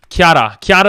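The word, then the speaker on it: キャラ: That's how you say it in Japanese. Japanese, that's not even racist. That's actually how you say character. Character. Kiara is how you say it in short.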